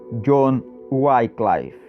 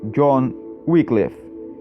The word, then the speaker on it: John Wycliffe: Aí você tem a pronúncia do nome dele em inglês britânico logo acima, John Wycliffe. Também tem a pronúncia no meio em inglês americano, John Wycliffe. E aí a pronúncia logo abaixo em português, João Wycliffe.